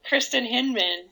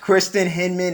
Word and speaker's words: Kristin Hinman: Can you pronounce it I'm for me? Kristin Hinman. Thanks, Kojo. Kristin Hinman.